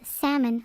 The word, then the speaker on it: salmon: I feel like someone like that would also pronounce salmon with an L.